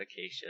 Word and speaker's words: acacia: trees a cha-cha um i think i've heard it pronounced a few other ways but acacia is the correct way um boom boom yield